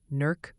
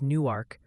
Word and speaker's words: Newark: The Great Newark Pronunciation War, NERC versus Newark, rages on unabated in the chat.